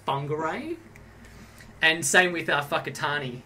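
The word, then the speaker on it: Whangārei: actually spelt w h n but it's actually pronounced fungi ray and same with our whakatani it's wh what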